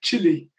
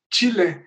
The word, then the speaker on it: chile: was a child uh we used to pronounce it like uh chili which is like cold yeah yeah a little